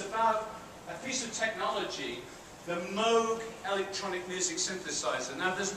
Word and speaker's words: Moog: it says always said Moog rhymes with Rogue not new rhymes of